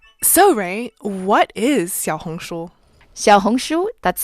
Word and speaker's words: Xiaohongshu: friday december 7th so ray what is xiaohongshuo that's spelled x i a o h o n